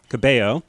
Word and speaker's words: Cabello: Um uh so next we had uh the musical guest Camila Cabo. Yes. I It's spelled like Cabello but because like it's the Hispanic name is pronounced Cabo.